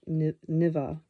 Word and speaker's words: Neva: A footnote pronounced Nivea, the river that flows through the city of St.